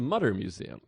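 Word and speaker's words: Mütter Museum: motor museum I went I think it's the Mutter Museum I thought it was mooder someone else told me mooter but everyone else called it Mudder it's you and Rebecca Trent say mooter Google anyone else I've ever met says mutter call in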